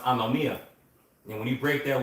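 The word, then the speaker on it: ἀνομία: And when you read that verse, because iniquity shall abound, when you go into that word iniquity in the Greek, that word is pronounced anomia.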